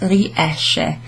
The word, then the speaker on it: riesce: So if you know the verb uscire, to go out, esco, esci, esce, etc., then you'll know that that is pronounced riesce. SCE is a she sound, okay, so it's not riesce.